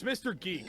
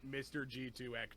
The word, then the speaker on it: Mr. Geek: It's Mr. Geek, right? Yeah. Gotcha. Until I heard Dylan say your name out loud once, I was actually pronouncing it Mr. G2X to myself.